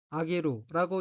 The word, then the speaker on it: 挙げる: 첫째 줄 오른쪽의 어휘는 한자가 한국어로 들것자가 들어있고 일본어로는 아게루라고 읽으며 아게루는 손을 들다, 예식 등을 과행하다, 예로서 들다 라는 뜻인 타동사입니다.